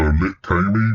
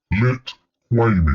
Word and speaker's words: Litwa: Some pronounce it like a K. So Lit Ky, but that that might sound a bit suggestive. So So um not Lit Damy. No, very close. Lit way.